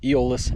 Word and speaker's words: Eolus: out it's in the guide book uh it's pronounced eolis and it comes from the word aolis um